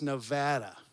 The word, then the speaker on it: Nevada: again in front of a crowd how to pronounce the name of the state, and said it wrong like 4 times. It's Nevada, okay?